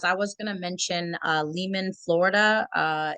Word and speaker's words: Lealman: So Lehman, Lealman. That's how you spell it.